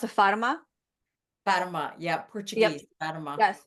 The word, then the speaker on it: Fatima: And so for you, just like me, you have, you pronounce it Fatima? Fatima.